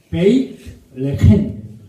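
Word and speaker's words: בית לחם: 벳 앞에 그러니까 두 발음 연음이기 때문에 베들레헴인데 베이트 레헴 빵집 베이트 그러니까 바이트가 집이고 그 붙여서 할 때 베이트 레헴 베들레헴 레헴은 빵입니다.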